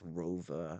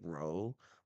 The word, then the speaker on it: Rowe: I think that's rover. I think in like English we'd say row, but like I'm pretty sure in German that ROWE is rover. Because you pronounce the eh.